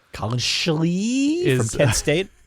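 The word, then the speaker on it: Collin Schlee: I think it's Colin Schlee. Colin Schlee from Kent State. You have to say his name like that. Schlee.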